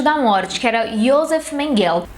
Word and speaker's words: Mengele: Morte, que era Josef Mengele ou, mais conhecido como Mengele, na pronúncia alemã.